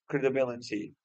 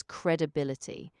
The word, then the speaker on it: credibility: So the word is pronounced as credibility. So it has four syllables. Cred like credit, a soft sound, bill, and then ity at the end. Just keep the stress on the third syllable.